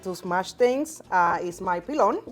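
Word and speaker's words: pilón: So one of my key tools when I'm dealing with garlic or I need to smash things is my pilon.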